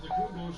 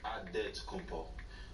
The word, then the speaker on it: Antetokounmpo: In the real way, you gotta say with a D, so it's Antetokounmpo. But in the Greek way, you say with the NT, like Antetokounmpo.